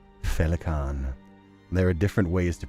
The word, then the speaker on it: Féileacán: How to pronounce your name? Féileacán.